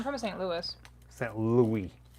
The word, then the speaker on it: Louis: st louis is that louis how dare you if you pronounce the s in saint louis how come you cannot pronounce the s in illinois illinois don't you dare